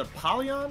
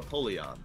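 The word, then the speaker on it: Apollyon: hell out of me how do you say it is it apolon or aoleon I say apolon Napoleon Napoleon yeah napon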